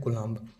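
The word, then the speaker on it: Coulomb: CULOMB, ये होता है कुलाम्ब। बोलते हैं कुलाम, लिखा जाता है कुलाम्ब, यहाँ पे यम साइलेंट रहता है, ठीक है।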